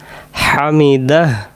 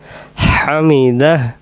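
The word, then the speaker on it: حمده: পড়ার তাহলে আমরা বলব সামি আল্লাহু লি মান হামিদাহ হামিদাহ হামিদাহ এটা শসু করে পড়ব হামিদাহ আমরা অনেকে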